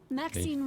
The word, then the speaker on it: Maxine: it up killer varieties Maxine rhymes with Queen after all and dearest